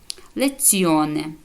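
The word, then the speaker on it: lezione: звук ДЗ дзукеро цукор Бачите коли вона стоїть в кі ой в середині слова і біля неї є голосна і виходи вона пом'якшеня як ц леціоне урок добре леціоне урок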